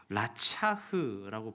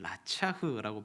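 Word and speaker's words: רצח: 히브리어로 라차흐라고 부르면 라차흐라고 발음하는데요.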